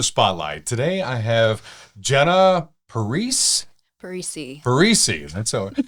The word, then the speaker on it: Parise: Today I have Jenna Parise. Parise. Parise. It's always hard to pronounce that. If you really want to add some gusto, it's Italian, so it's Parise.